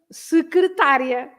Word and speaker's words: secretária: Another one that sometimes people don't pronounce correctly is okay, the secretaria and secretária, right?